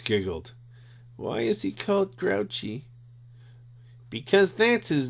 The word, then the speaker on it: Grouchy: why is he caught grouchy because that's his name said mrs. Zimmerman only it's pronounced grew she because it's a French name fat ears here knows